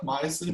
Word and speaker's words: myosin: So myosin rhymes with Tyson. It's like myosin, right?